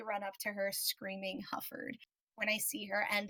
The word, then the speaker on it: Hufford: And she's like, yeah, by the way, it's HUFFORD, just saying.